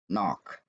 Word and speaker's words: knock: Dengan kata yang ketiga, knock. Ya, jadi ingat, dia ada tapi tidak diucapkan.